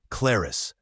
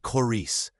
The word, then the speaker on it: Claris: Technically, yes, but the medieval pronunciation was completely different. Claris, not Clarice.